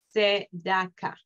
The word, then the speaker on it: צדקה: Y la última, tzeda, ka. Tzedaka.